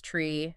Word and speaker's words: three: to add to that some numbers have specific pronunciations too like like three is tree nine is ner and zero is zero so where do pilots